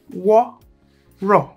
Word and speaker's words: Woro: on and let's ride water as pronounced war raw is a popular pattern